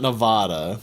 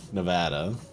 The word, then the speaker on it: Nevada: Not Nevada, Nevada.